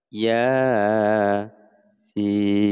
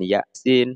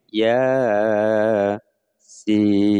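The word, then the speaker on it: يس: Bacanya adalah ya sin, bukan ya sin tapi ya sin. Saya ulang. Ya sin.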